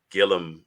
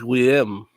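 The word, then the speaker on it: Guillem: yeah say his name it's GUI l l m so I think that's Gillum we say again it's weim yeah it's French yeah yeah something like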